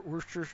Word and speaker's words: Worcestershire: sauce in there, or Worcestershire, or Worcester. There's not Chester. There's no Worcestershire. There's no Chester in it at all, even though everybody pronounces it that way.